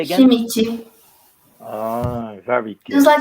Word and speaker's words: Schmidt: Can you just how you It's pronounce Schmidt. it? Say again. Schmidt.